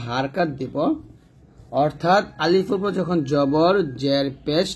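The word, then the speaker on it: ألف: তো প্রথম কাজ হচ্ছে সামনের উপরের দাঁত নিচে ঠোঁটের পেটে লাগবে, তারপর বাতাস চালু, মুখে হাসির ভাব থাকবে, উচ্চারণ করতে হবে আলিফটা। এবং আরো বিষয় হচ্ছে আলিফটা তাড়াতাড়ি উচ্চারণ করতে হবে, টান দেওয়া যাবে না।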